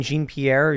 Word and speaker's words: Jean-Pierre: pathetic that biden said this that uh karine jean pierre jean-pierre pronounced reaffirmed it uh but it is kind